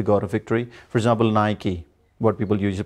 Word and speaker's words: Nike: of sport but the word is wrong he mispronounced it is naik it should be Nike so we say Nike we don't tonight and what about Eddie guys